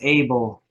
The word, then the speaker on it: Abel: lot about Abigail abadale that's probably not how you pronounce his name either it's able because he was the